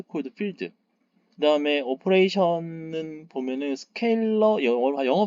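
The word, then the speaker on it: scalar: 그다음에 오퍼레이션은 보면은 스케일러 영어 발음은 이제 우리나라는 보통 스칼라라고 부릅니다만 영어의 발음은 스케일러긴 합니다.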